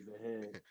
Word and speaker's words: Gyökeres: I find a hard time pronouncing his name. You Jokeres. know, Victor Jokeres. Gyökeres.